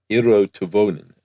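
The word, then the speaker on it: Eero Tuovinen: Eero Tuvonen, I believe, is the way he said it himself on some very old podcast I found.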